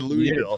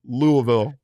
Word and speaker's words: Louisville: Did I I did I mispronounced it, didn't I? I said Louisville twice. I did it twice. Oh my god. Sorry, Brandon. Louisville. Louisville.